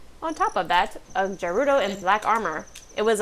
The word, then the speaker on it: Gerudo: Ganondorf Gerudo. We decided his last name was Gerudo. He doesn't have one. I mean, I think that's canonical. Also, I've always said with the hard G.